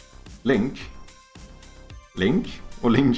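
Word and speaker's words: LINQ: using what is it called link Q Link Link or link Q uh can not be found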